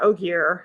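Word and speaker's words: Ogier: gentle builders right yeah oh gear um i think just but it does sound like ogre but it's different okay so i told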